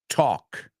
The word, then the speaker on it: talk: at right there is the word walk okay walk talk half okay walk talk half no walk t or half these are very common pronunciation mistakes Amigos we're going to